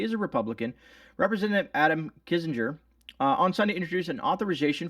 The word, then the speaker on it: Kissinger: it out it says kissinger introduced kazinger kissinger yeah that's how you say it one of the